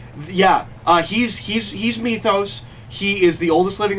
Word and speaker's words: Methos: name is methos um it's with an E it's m e t h o s it's methos um but